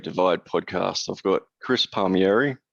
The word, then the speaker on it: Palmieri: I've got Chris Palmieri. How do you pronounce it? Palmieri.